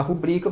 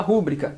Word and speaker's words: rubrica: por silabada é justamente quando você troca a tonicidade adequada da palavra ao invés de falar rubrica você fala rúbrica isso é uma silabada